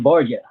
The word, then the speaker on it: Borja: is that bonjour Bonsai but how you say it boy I'm Borgia Georgia okay he's out of